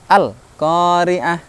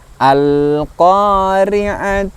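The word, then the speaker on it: القارعة: Pengucapan lam sukun tidak serta-merta berhenti al-qari'ah, al-qari'ah. Nah, kurang sempurna. Maka kita sempurnakan sifat hurufnya al-qari'atu, al-qari'ah. Nah, masih kita tahan sebentar huruf lam sukunnya, tidak berhenti atau mandek.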